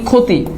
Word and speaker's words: ক্ষতি: একটু খেয়াল করে দেখি ক্ষী যদি শুরুতে থাকে সেটার উচ্চারণ খয় সেটা আমরা জানি যেমন খেয়াল করে দেখি আমরা যদি বলি ক্ষতি তাহলে এটার উচ্চারণে এই খিয়টার উচ্চারণ কিন্তু খ হচ্ছে রাইট বাট খিয় যদি